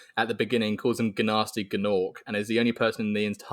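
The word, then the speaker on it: Gnasty Gnorc: So you are pronouncing it correctly, which is fantastic, even though there are 2 G's there.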